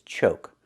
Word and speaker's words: choke: We see we have a silent e at the end. When you have a silent e at the end of a word, we know the previous vowel is long. So, we need the o sound like coke. CocaCola. O like no and go. Choke.